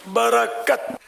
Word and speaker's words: برکت: صحیح تلفظ ہے برکت، برکت.